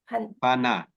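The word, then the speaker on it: pāṇātipātā: the Panatipata, is it? Is that the Yeah, one? right. Okay. Is it Pana? Paya or Pana? Pana. Panatipata.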